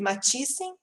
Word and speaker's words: Mathiesen: Nós estamos também com o Henrique Mathiesen. É assim que pronuncia, Henrique? É exatamente assim.